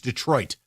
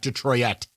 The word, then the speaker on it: Detroit: It's Detroit, not Detroit.